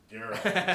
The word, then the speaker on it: Geralt: Geralt. It's a hard G.